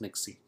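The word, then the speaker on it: Pnyxe: your Google site is to use Nixie it is spelled p-n-y-x-e and so once you're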